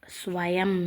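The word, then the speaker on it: स्वयं: ஸ்வயம். இங்கே மேலே புள்ளி இருக்குது, அது இம்முன்னு ப்ரொனவுன்ஸ் பண்ணும்.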